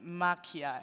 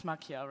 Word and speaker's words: Makia: So we did acknowledge and followed the collaboration of Tretorn and Makia. Am I saying it right? It's Makia, right? Yeah. Yeah. Yeah, you say it like this, right? Yeah, I say it the same.